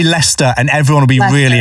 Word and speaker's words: Leicester: in a place called Leicester Square. Yeah. But it's spelled Leicester. And Americans seem to really struggle with saying that and say Leicester.